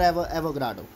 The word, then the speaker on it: Avogadro: करते हैं, एल फॉर एवोग्राडो। ठीक है, कई बच्चे कह रहे हैं सर गाद्रो कहते हैं, ठीक है प्रोनाउंसिएशन अपना अपना कर लो भैया, एवोग्राडो कह लो या गाद्रो कह लो, स्पेलिंग है AVOGADRO, बिल्कुल दिमाग में छप जाए।